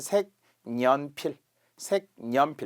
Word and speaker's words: 색연필: 자, 그래서 1단계는 색, 연필 이렇게 니은이 첨가되고 2번째 이제 비음어가 되면서 색연필 이런 변화가 생기죠. 자, 표시해 드렸어요.